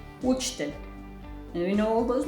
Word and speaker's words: učitelj: Učitelj. Teacher. And for example, house, U is like how we pronounce it, this U. So U, učitelj, učitelj.